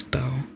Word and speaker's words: Beau: His real name is Bo, pronounced B E A U.